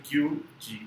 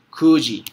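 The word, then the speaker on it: 九時: Gozen Kyuji desu. Ahora, Gozen Kyuji desu. Aquí esta pronunciación no es Q. Cuando contamos, número general era Q, pero cambias pronunciación Q. Kuji.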